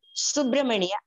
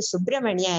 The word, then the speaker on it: Subramaniya: So I say, it's not Subramaniya Bharatiyar, it is starting with S, Subramaniya Bharatiyar. Ma'am, Andamadri Subramaniya is like English. Subramaniya is the correct Tamil. So they know that. They know that is Subramaniya is pronounced in English and in Malayalam.